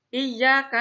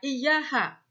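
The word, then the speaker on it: إياك: ketika melafalkan huruf kaf, mereka melafalkannya cenderung ke huruf H. Dalam Al-Quran Surat Al-Fatihah misalnya, Iyyaka na'budu, mereka membacanya Iyyaha, bukan iyyaka. Bukan iyyaka na'budu, tetapi mereka banyak yang melafalkannya iyyaha na'budu.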